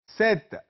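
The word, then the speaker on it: sept: ये और सीन सीस सेत एस ई पी टी यहां पर पी साइलेंट है खामोश हर्फ है सेत वीत नफ दीस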